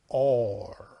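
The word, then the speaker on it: אור: read it in English our but you pronounces pronounce it or as light so that is the third aspect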